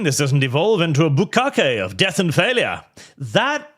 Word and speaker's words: bukkake: So, in case you're wondering, by the way, chat, bukkake should be pronounced bukkake, because it's the Japanese word for basically covering something with splooges, like bukkake.